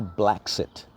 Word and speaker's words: Bla Xit: another one there's also black sit and their page is spelled BL a space XIT like brexit but it's blacks it BL a space XIT